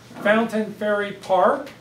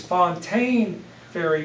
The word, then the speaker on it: Fontaine Ferry Park: far side there here Fountain Ferry Park which we louisvillians always mispronounce it's Fontaine Ferry Park not Fountain Ferry but whatever reason we